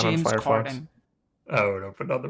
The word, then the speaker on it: Corden: It's not Corden. That's way too fancy. It's like It is- that's like a French enunciation. No, his name is Corden.